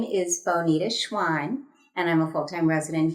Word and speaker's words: Schwan: and how do you say your last name Schwan Schwan schan okay Bita schan uh running for city council